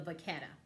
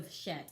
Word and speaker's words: Vachetta: But Louis Vuitton is not showing you an up-and-close picture of the stamping on the Vachetta. Or the Vachette, I believe actually is the correct way you pronounce it.